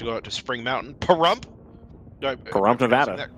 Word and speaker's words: Pahrump: Pahrump, Nevada. Pronouncing that correctly. Pahrump.